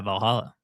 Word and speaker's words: Valhalla: Yeah, Valhalla.